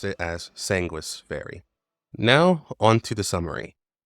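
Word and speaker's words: Sangvis Ferri: blood meaning sanguish and in Latin the V is pronounced like either a U or a w so in all is pronounced sanguish fairy now it's completely possible you can say songis fairy because that's what the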